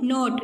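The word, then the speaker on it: knot: क्या बनाते हैं, नॉट. इसमें देखिए क्या साइलेंट है, के साइलेंट है.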